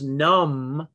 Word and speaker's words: numb: us it makes us numb num silent b doubt d o u